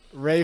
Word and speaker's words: Ralph: Ray Fiennes. Ralph, Yeah, they lost the art of Ralph, pronunciation. Ralph, dude. Pronunciation and spelling have gone extinct in the UK.